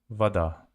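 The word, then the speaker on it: вода: but they say bhagdan Vada they write o and pronounce it as a Vada it's water Vada gee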